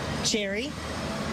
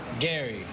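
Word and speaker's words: Gerry: How do you pronounce this name? Jerry. Jerry? Yeah. Not Gary. Jerry. Jerry? Jerry. Jerry? Jerry. Jerry? Jerry. Jerry? Jerry? Jerry. Jerry. Yeah. How do you pronounce this? Gary.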